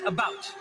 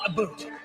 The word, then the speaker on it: about: And I pronounce it about, not a boot.